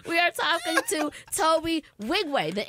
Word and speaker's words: Nwigwe: We are talking to Tobe Nwigwe. The N is silent. Come on. The N is silent. N is mad silent.